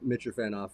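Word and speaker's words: Mitrofanoff: are and JJ that is it is the mitcher fan off right yeah it is yeah there you go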